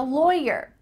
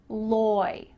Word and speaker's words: lawyer: Even though the root of this word is law, The vowel is different when we're talking about the person. Loy, loy. It sounds like it rhymes with boy, toy, lawyer, lawyer.